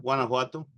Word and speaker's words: Guanajuato: Yeah, Guanajuato.